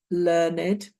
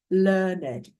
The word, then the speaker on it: learned: Scholarly, ignorant, learned, knowledgeable. So, first of all, if we're using the past participle of learn as as an adjective, then we pronounce it learned, a learned person.